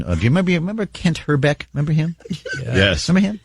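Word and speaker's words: Hrbek: little bit of check and the actual correct pronunciation of his name is herbeck got to roll the eye herck okay and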